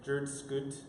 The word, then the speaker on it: jrdsctt: I want to say it the way, how do you say it without vocals? Or without vowels? It'd be just like jrdsctt.